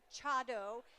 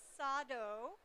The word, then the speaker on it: Chado: you are familiar with Chado? Some of you may have heard it referred to as Sado, the difference in pronunciation being the school of tea that you practice. So how many of you